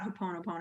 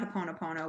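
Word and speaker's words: Hoʻoponopono: Well, speaking of getting into people's head, let's talk a little bit about Haponopono.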